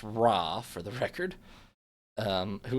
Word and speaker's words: Ra: in favor of more religious temples particularly to raah which I just checked the pronunciation of and realized the first half of this video is going to sound bad but it's raw for the record um who is attained pride